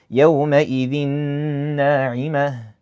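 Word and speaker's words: يَوْمَئِذٍ نَاعِمَةٌ: Anyways, yauma idhin na'imah. Tanween? Yep. Noon from one of the letters of Idgham. Yes. With ghunnah or without ghunnah? With ghunnah. So, I'd say yauma idhin na'imah.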